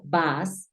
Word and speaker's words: bus: en inglés se pronuncia bas Mira es una u suena bas Entonces se significa lo